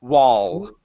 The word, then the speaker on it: wall: one and power H wall pronounce the L Sound there wall will and power there